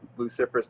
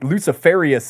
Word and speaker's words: Luciferous: Because I say it a little too fancy. I think Luciferous is too much, right? Yeah. Luciferous. Luciferous.